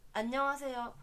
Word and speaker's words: 안녕하세요: En fait, le G se prononce peu dans le bonjour. 안녕하세요. Quand je dis que c'est NG, c'est pour dire que c'est pas n mais un. C'est pas un.